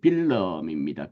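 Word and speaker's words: Willem: 특히 1848년 유럽의 중요한 해지만 네덜란드에도 이 왕 빌름, 영어는 이제 윌리엄이죠. 프랑스어는 귀욤이란 발음을 쓰게 되고요. 또 독일어는 빌헬름 이렇게 되지만 화란어는 빌름입니다.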